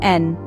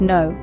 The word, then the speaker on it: en: first up let's tackle n n n translates to in in English it's pronounced much like the English letter N picture yourself saying I'm